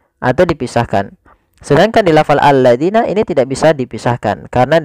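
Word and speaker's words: الَّذِينَ: Kemudian hati-hati pada lafal alladzina, jangan sampai kita membacanya zina misalkan allazina. Nah, ini kurang tepat atau salah. Kenapa? Karena dia merubah huruf antara huruf zal diganti dengan huruf zai.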